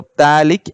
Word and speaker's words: phthalic: this term as pH, phthalic acid. Okay, pH. So here pH is silent. So phthalic acid.